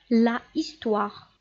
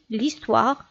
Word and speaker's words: l'histoire: Parce que l'article défini la est suivi d'un H muet, d'un mot qui commence par un H muet. Donc, on supprime le A, l'article défini la sera remplacé par un L'. On dit l'histoire et on écrit l'histoire.